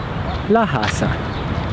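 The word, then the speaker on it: la casa: Florentine dialect is that people in Florence don't pronounce a hard sounding SE when it's follow followed and preceded by a vowel for instance the word Casa which in English translates into house is pronounced Casa however if you were to put the article in front of it which in Italian is La English the it would sound laasa you could take this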